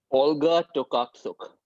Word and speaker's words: Olga Tokarczuk: Olga Tokarczuk. Absolutely, pronounced perfectly and absolutely correct.